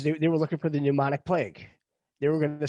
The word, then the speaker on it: pneumonic: And they do have the pneumonic plague listed. Wow. It starts with a P. It's PP, pneumonic. The P is silent.